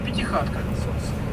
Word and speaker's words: пятихатка: Оно произносилось так – пятихатка. Но пятихатка – это видоизмененное произношение слова пятикатка.